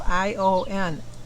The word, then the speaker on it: Ian: Because I know, like, on the 90210, it's spelled I-A-N, and it's not Ian. He goes by Ion.